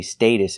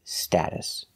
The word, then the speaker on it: status: America we always say status it is the only correct pronunciation in American English status we're using the short a sound like apple and black cat sta status the T